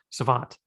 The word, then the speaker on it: Savant: stat they have on baseball savant savant that's how it's pronounced um in right field